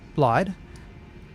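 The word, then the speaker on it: Blaidd: load up the map because I can never pronounce it correctly here we are this guy blade or blide yeah so blide and we're trying to find a way to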